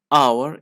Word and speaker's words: hour: Hour is pronounced like hour. We don't pronounce H, that's why we have to use N, not A.